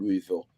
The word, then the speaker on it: Louisville: I'm trying my best not to say it like the French way, but it's old, Louisville.